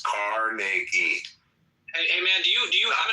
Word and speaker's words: Carnegie: Well, pronounce his fucking name right. It's Carnegie.